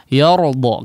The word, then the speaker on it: يرضى: Nah, di sini juga cukup rawan untuk menebalkan huruf yang tipis. Yor ya. Yardo karena setelahnya ada huruf yang tebal, ro, ditambah lagi setelahnya huruf dod yang sangat tebal ya. Maka di sini perhatikan pengucapan huruf ya-nya.